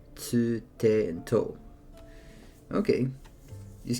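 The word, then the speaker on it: つ: The second exception is tsu, which adds an s sound and is pronounced with less emphasis on the t.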